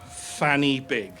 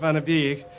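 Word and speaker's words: Fan y Big: And that's Fanny Big. Seriously? Yeah, it's actually pronounced Vanabig. It means point of the peak.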